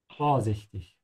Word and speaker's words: vorsichtig: Make sure to emphasize the prefix here. Yeah. So stretch the O instead of the I. Yeah. Vorsichtig.